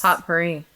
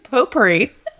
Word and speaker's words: potpourri: Potpourri. It's potpourri. Oh, I thought it was potpourri. It's spelled like potpourri.